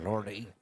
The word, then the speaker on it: Lorde: It's Lord with an E on the end. That's how it's spelled. But uh I must have introduced myself as Lordy or Lord with me. You can just say Lord.